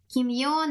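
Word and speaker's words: 奇妙: から不思議だね。舞い上がれ、朱雀、ミラクルラ。OK、不思議遊戯。そうやね、気持ち悪い。And then Kimyo, since it rhymes with Bimyo, it's just I don't have a positive impression of the word.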